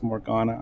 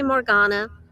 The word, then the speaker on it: Morgana: the first time, and I forgot that your pronunciation is Morgana. I'm so sorry. I didn't even notice a mispronunciation. West Oh, Coast people tend to say Morgana. East okay. Coast people tend to say Morgana, and Yeah.